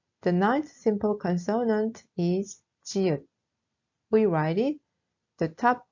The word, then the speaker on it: 지읒: The ninth simple consonant is 지읒. We write it the top horizontal line from left to right, and then the rest is like 시읒. We pronounce it z, z, like in jeans.